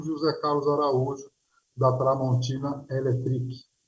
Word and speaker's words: Electric: E hoje a gente conversou com o José Carlos Araújo, da Tramontina Electric. Essa pronúncia, né? Não é elétrica. Exatamente, Electric, com Carlos, sim.